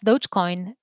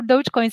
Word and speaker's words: Dogecoin: is my cousin and is that how you pronounce dogecoin i always pronounced it the same way as